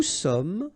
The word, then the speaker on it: sommes: Nous sommes, final S not pronounced.